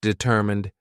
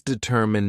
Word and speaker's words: determine: It does not deter mine. It does determine mine is mine, but remember that unaccented word fully, it's not pronounced. So the pronunciation is determined determine. Please pronounce determine, not determined mine.